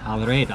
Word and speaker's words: El Reda: Okay, so I think first off we have to thank the very nice people here at, could you pronounce it? Al Reda.